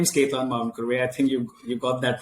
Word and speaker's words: Ketan Mavinkurve: So my name is Ketan Mavinkurve. I think you got that pronunciation spot on, really.